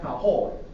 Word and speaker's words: Tahoe: It's called Tahoe.